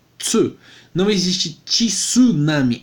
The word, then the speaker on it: tsu: Ta, Ti, Tsu, Te, To. Não existe Tu, é Tsu.